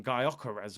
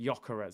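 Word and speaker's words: Gyökeres: I was calling him Gyokeres or something crazy like that, but people were telling me in the comments to pronounce it Gyokeres.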